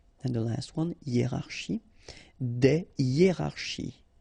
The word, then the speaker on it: des hiérarchies: Des hiérarchies. Okay, so just to show you that it's not only with A, because I've got three examples with A, but then in that case it's I, okay, des hiérarchies. All right, so no liaison here, here, here, and here.